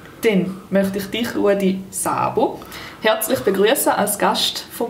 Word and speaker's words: Szabo: Szabo, spricht da richtig aus? Ich spiele zwei S. Im Ungarischen gibt es kein Doppel-S, sondern man schreibt SZ.